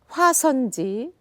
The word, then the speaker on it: 화선지: However, 화선지, the last syllable should not be accented, but it falls on the downbeat.